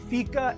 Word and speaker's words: Fika: From here on out, I'm taking my Fika every day.